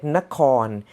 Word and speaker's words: Nakhon: grunke mahanakon why and if you want to pronounce like nakhon the way of how you spell it n a k h k h should sound like corn uh horn you know i don't